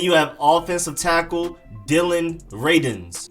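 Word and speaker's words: Radunz: have offensive tackle dylan rayden's like rey then done like when you're done with something and then z's at the end dylan rayden's not ray dunes or redundance is dylan rayden's then next up you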